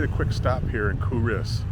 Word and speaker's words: Culross: quick stop here in kuris spelled c l r o SS kuris this is a medieval